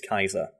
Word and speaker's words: Caesar: Caesar gets mentioned and I pronounced it Julius Kaiser which is the correct pronunciation and every other comment